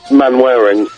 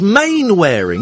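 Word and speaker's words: Mainwaring: mannering why is cuz you know how you spell mannering don't you as in Mr mannering man wearing no it's main wearing isn't it main wearing right and you know how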